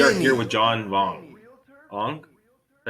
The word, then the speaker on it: Vuong: here with John Vuong. Vuong? Did I say it right? John Vuong, that's right.